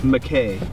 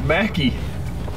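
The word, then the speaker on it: Mackay: You can see how I might say that because look at how it's spelled. But it's McKay. It's Mackie. It's Mackie. It's Mackie, Idaho.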